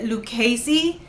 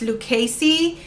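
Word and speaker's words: Lucchese: heard of this brand which i believe you pronounce it lucasy i just said it wrong in the title i think but i googled it and it's lucasie this brand i had it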